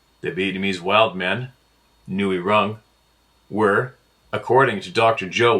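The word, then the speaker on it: rừng: The indigenous people called them Ngoi Rung. Ngoi Rung is pronounced Nui Run, Of course it is.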